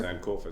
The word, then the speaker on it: Sankofa: For instance, a few blocks from here, Young Dundas Square has been named I can't even pronounce it. What's it named here? Sanc Kua Square. S Kofa Square.